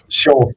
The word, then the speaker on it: Scholz: Well, it's kind of like the footpad, Scholz, Scholz, perfect.